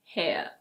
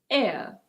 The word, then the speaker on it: heir: Now we have a word that starts with a silent H. So this is not "hair". In British English this is: heir. Heir. In American English it's: heir. Heir. It's pronounced exactly the same way as this word. As in the air that we breathe.